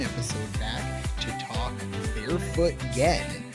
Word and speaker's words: Gen: back to talk Barefoot Gen, which I thought up until this morning was called Barefoot Jen when Yeah. So, I was pronouncing it wrong for probably about a week, but now I know.